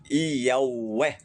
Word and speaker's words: Yahweh: alfabeto latino é YHWH, que a pronúncia paleo-hebraico é Yahweh, que na pronúncia moderna seria Yahvé, se ainda fosse pronunciada